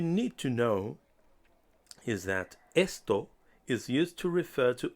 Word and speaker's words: esto: reading much easier our third Spanish word is Esto esto means this neuter in Spanish many words have different genders but for now all you need to know is that esto is used to refer to objects please avoid